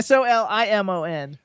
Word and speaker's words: Solimon: And it's Solimon. No, it's Solimon. That's what I just How said. could you Oh, be okay. I think Solomon? it's SA. How could No, you, no, Solimon.